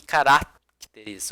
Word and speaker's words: caracteres: Não existe a palavra aqui caracteres, ok? É caracteres, ok? A sílaba tônica ali ela vai ser uma paroxítona, ok? É a penúltima.